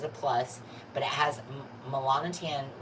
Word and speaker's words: melanotan: So today, I was listening to a podcast, and I've never heard it pronounced this way, so I'm going to try to pronounce it. So, melanotin. I've been calling it melanotan forever.